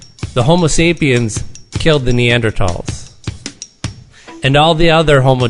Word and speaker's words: Neanderthals: And Homo sapiens, for hundreds of thousands of years, lived alongside of Neanderthals, or Neanderthals, actually, as it's pronounced.